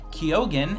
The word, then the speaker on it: Keogan: I think you guys are both from New Hampshire, but it is Kinsmen Sound Studio's Will Jones, co-founder, and Brandon Keogan. Is that how you pronounce it, Brandon?